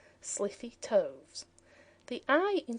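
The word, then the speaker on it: slithy: How to pronounce sliffy toes? The i in sliffy is long as in wythe and toes is pronounced so as to rhyme with groves.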